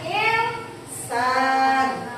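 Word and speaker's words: إنسان: Ini ada nun sukun bertemu dengan huruf sin, ya. Nun sukun bertemu dengan huruf sin, bacanya insan.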